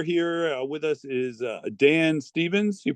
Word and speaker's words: Stephens: show tonight we're here with us is Dan Stevens you pronounce it Stevens yeah that's exactly right and he is with